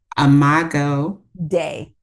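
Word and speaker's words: Imago Dei: Imago Day. Yes. Imago Day. That's the English in me. I want to, like, Yes. it's like Yeah. And it's phonetically, it's like, yes. okay. Yeah. So it's actually Latin for the image of God.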